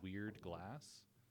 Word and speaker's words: WeredGlass: My business is called WeredGlass, but it's spelled weird. It's WERED glass.